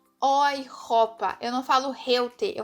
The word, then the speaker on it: Europa: A junção da letra E e U tem som de OI. Então, eu não falo Europa, eu falo Europa. Europa.